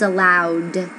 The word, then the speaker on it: allowed: The correct pronunciation is allowed. So, it's a voiced sound.